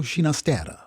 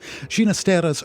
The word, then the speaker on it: Ginastera: and an italian mother the soft g with which he would prefer to have his surname pronounced being a parental inheritance